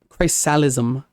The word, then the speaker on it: chrysalism: Chrysalism, which is the amniotic tranquility of being out indoors during a thunderstorm.